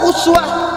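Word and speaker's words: أسوة: Dan dahsyatnya keteladanannya disebutkan dengan dua cara baca, satu uswah, kedua iswah.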